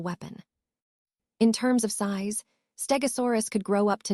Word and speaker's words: Stegosaurus: Let's take a closer look at Stegosaurus, pronounced Stegosaurus.